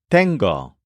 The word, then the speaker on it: tengo: But the word that we're going to learn for you in this scene is tengo, spelled T-E-N-G-O.